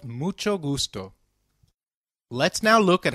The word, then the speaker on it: mucho: notice the pronunciation of mucho we earlier learned that H is always silent in Spanish however when combined with C it is pronounced as CH as in church so can you try